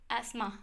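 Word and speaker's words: asthma: बात करें तो यह अस्थमा की वजह से एस्मा सॉरी एस्मा इसे प्रोनाउंस करना है एस्मा की वजह से इसे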